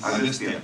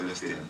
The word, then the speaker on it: Aghathiyaa: It is Aghathiyaa, but in the film, your name is pronounced in different ways. Aghathiyaa. Yeah. In both ways it is pronounced. Yeah, it's Aghathiyaa and also Aghathiyaa.